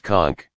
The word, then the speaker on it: conch: held a large shell usually a conch pronounced conch up to our ears